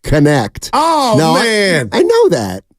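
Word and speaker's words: Knecht: from Danville I'm a Tennessee fan steiny it's pronounced connect oh man I know that Oh I thought it was necky no that's what I call him his name's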